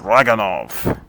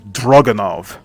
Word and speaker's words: Dragunov: Alright, next up, the Dragunov. Fun fact, the actual pronunciation of the weapon is Dragunov. But as we all know, they always call it Dragunov.